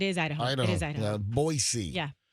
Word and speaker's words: Boise: Boisey. Yeah. Boisey is in Idaho. If you got a three-day trip to Boise, Idaho. No, no, no. Don't say Boise. Boisey. They're really particular how you say it.